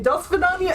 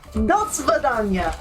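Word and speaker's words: до свидания: Das Vidania is actually how you say goodbye. It's like farewell. No, Das Vidania.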